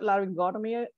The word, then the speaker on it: laryngotomy: that uh the word laryngotomy wait one more time for me uh largest go to me Perfect all right so the the stress is on the o like before the the atomy right so just remember